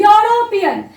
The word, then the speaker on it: European: तो ये भी आप लोग रूल एक बार रिकॉल करेंगे तो ई वॉवल है बट प्रोनाउंसिएशन इज यूरोपियन। तो हम पहले भी डिस्कस किए हैं कि अगर प्रोनाउंसिएशन यू जैसा होगा यूरोपियन तो उधर एन नहीं होगा, उधर होगा आपका आ।